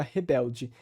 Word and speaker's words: Rebelde: português brasileiro Ou seja a ditongação do l a palatalização do d o a pronúncia do e final como i e também a suavização